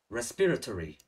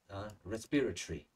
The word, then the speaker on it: respiratory: Có hai cái phát âm. Một, nếu chúng ta phát âm theo người Mỹ, chúng ta sẽ đọc là American accent nhé. Lâu không nói cái này. Respiratory, ok? Còn nói người Anh rất là dễ nhất. Respiratory. Even though I speak in American accent, I still prefer the English pronunciation of this one, the British one.